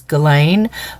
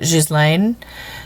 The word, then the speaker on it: Ghislaine: Okay, so, but I found, just like Ghislaine Maxwell, and the American pronunciation of that she pronounces it, or the way that they pronounce it is Ghislaine, but in French they pronounce it Ghislaine.